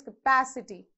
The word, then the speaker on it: capacity: bar before b okay now next capacity how many syllables plus so from end third one so you have to place the vertical bar before p so it is capacity that's how you pronounce eyes so again check